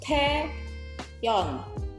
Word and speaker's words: Taeyeon: Cara bacanya Teon. Teon? Teon? Bukan. Yang betul adalah Taeyeon.